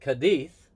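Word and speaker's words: Cádiz: on on pronunciation so she pronounces I pronounce it kadith because that's the Spanish I'm trying to do the Spanish word and you pronounce it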